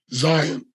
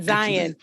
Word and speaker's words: Zion: he has risked everything you have pronounced sir two things slightly wrong it's the nebuchadnezzar and it's zion zion that whatever you said okay not zion zion it's not diet i was going to